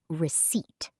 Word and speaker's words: receipt: The second word is receipt. R-E-C-E-I-P-T. Receipt. A receipt is the small piece of paper the cashier gives you after you pay. It shows your total money spent. And remember, the P is silent.